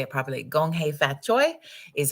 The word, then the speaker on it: Gong Hei Fat Choi: Gong Hei Fat Choi is how you say Happy New Year for the Lunar New Year, Chinese New Year, and wishing you an exceptional day.